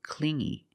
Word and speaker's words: clingy: So, she broke up with him because he was too clingy. You hear the sound m only the nasal sound here. No G, not clingy, but clingy.